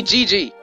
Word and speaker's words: Gigi: say this call me Gigi it's not rocket surgery just pronounce the letters G G like I care moving